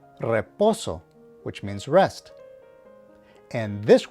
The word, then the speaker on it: reposo: beginning of a word, you should give it a slight trill or roll the R as they say. For example, this word is pronounced reposo, which means rest.